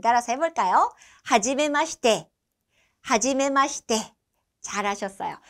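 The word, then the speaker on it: はじめまして: 발음 따라서 해볼까요? 하지메마시테.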